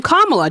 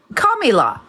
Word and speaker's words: Kamala: pronounce Kamala Harris's name Kamala. Do you understand? Kamila.